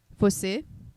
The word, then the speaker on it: Fossey: The other day, because you know the way my last name is pronounced, because it's French, it's fossey.